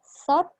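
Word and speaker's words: ซอส: Dia dibaca sot, harusnya memang huruf T sih. Tapi kalau Indonesia kan saus, bahasa Inggris juga saus. Mereka nggak bisa bilang huruf S di belakang, jadi gitu deh. Salah satunya kayak ini, alasan ini. Karena di belakang mereka pakai huruf T dan juga mereka nggak bisa ngomong huruf S kalau di belakang. Kayak gini. Mereka nggak bisa bilang huruf sos. Nggak bisa. Jadi mereka bilang sot.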